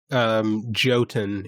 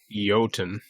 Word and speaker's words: Jotun: to be good but Jotun is free on epic right now you Alton not Jotun yotan excuse me good me maybe it's yogging maybe the J is silent Jotunheim you guys